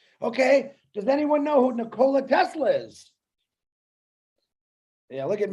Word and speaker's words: Nikola: got it you're caught you're talking about nikolai tesla no it's nicola actually if you pronounce it correctly okay i beg the